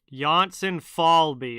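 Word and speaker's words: Jonsson-Fjällby: you have a hockey reference page with a pronunciation uh johnson falbe okay so that is right axel johnson falbe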